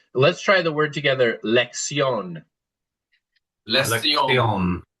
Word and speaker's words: lección: Let's try the word together, lección. Lección. It's almost as if the double C is an X, so let's try it as lección. Lección. Yeah, with the pop on the O, lección.